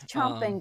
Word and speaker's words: champing: It's chomping, but it's spelled champing.